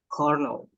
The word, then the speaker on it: colonel: So guys, this one, although we have O and O, but the correct pronunciation would be colonel. Colonel. Colonel. Colonel. So, k, and null. Not colonel, not colonel, but colonel.